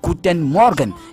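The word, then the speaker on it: Guten Morgen: c'est-à-dire vers 6h euh lorsqu'on se lève c'est guten Morgan et il a dit que gûen s'écrit g u T e n donc pour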